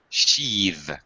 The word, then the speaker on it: sheathe: And now, but when it's a verb, this happens frequently, the th now becomes a voiced th. Sheath. It's more longer. Sheath. And it's like this and that. Sheath. Okay. Voiced. As opposed to sheath. Just air. Sheath. It's voiced.